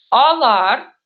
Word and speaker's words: алар: Вот, например, алар. Видите, алар. Я сначала округляю, алаштырам, да? А в втором слоге я произношу как обычную буковку А.